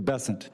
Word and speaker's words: Bessent: Cassidy um Mr bassant I'm always going to pronounce your name as if it was in south Louisiana and I'm gonna pronounce it with a French basson as opposed to bessent that's what those folks in South Carolina do um I'll try let